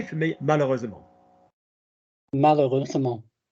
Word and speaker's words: malheureusement: Malheureusement. How many syllables in malheureusement? 5.